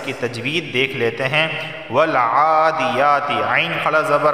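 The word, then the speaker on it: والعاديات: کی تلاوت کی ہے اور اس کا لفظی تلفظ بیان کیا ہے۔ اب اس کی تجوید دیکھ لیتے ہیں۔ والعادیات، عین کھڑا زبر آ اور یا کھڑا زبر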